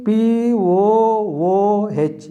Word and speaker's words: pooh: is we should understand p p p o o h h is a silent this is the pronunciation pooh long vowel what is the meaning